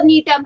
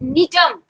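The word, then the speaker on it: Gnetum: उसको लिख लो, except नीटम, नीटम जी से शुरू करिएगा, दिस वन, ये है स्पेलिंग नीटम, जी साइलेंट होता है।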